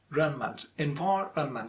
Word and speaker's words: environment: my pronunciation was this: environment. Actually, it is a little bit difficult because stress falls on the second syllable and after which there is a run. So environment.